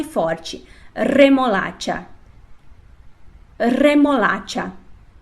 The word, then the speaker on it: remolacha: então repete lá primeiro é forte remolada de remolacha a e agora com r fraco repete lá